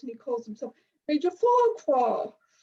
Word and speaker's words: Farquhar: We know up here that you actually pronounce it facker. Now, there's obviously reasons why they did this, because there are probably complaints going to Ofcom if they pronounce it the Scottish way.